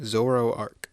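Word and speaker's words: Zoroark: Zoroarch. Oh, it's pronounced exactly how it's spelled.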